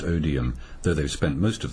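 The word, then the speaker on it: Odiham: live in the Hampshire Village of odham pronounced odium though they've spent most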